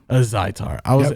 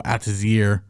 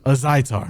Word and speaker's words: Azaitar: Azaitar. I keep saying, like, my brain just wants to go Atazir or Al Jazeera, or I don't know what the fuck what is it again? Azaitar.